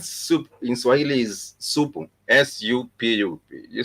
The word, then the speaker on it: supu: S-U-P-U.